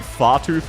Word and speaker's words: Fartooth: Once again, I need to remind people, Fartooth's name, and bear with me, is Far Tooth. Because she has teeth like swords that she shoots very far. Her name is not Fart Ooth.